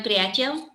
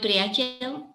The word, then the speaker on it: priateľ: Yes, my priateľ, mi amiga. How do you say again? My priateľ. Oh, it's almost like the Romanian. In Romanian, prietene. Yeah.